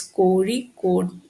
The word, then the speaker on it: Kozhikode: It is pronounced as Kozhikode.